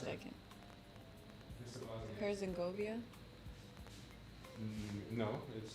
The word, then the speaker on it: Herzegovina: Herzegovina? No, It's like Genovia, but no, it's Vina at the end, not Govia. yeah, I just Vina.